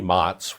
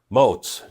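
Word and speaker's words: Motz: And Jeremy Mottz rhymes with boats. Damn it. Moes.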